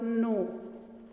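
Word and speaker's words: know: Like if I talk about the word no, now see here K is a consonant, but we are not saying no here, K is silent.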